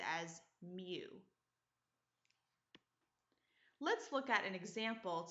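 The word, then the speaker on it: μ: mean is noted by this symbol, which is pronounced as mu.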